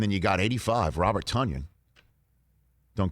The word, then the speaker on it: Tonyan: You got 12, and you got 17, and then you got 85, Robert Tonyan. Don't call me Tonyan. Rhymes with Funyon, Tonyan.